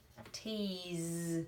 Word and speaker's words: tease: Tease, it's actually spelled with an S, but it says z, tease.